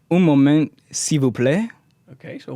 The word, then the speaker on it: un moment: The hard part is just not saying un moment. It's saying un moment.